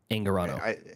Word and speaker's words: Angarano: Michael Angarano.